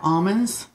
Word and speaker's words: Amen: Almonds. Yep. That's almond, as in A-M-E-N, spelled like amen.